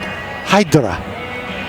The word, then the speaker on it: Hadara: Pronounces it Hydra. So it's Nafa Tumata Hydra.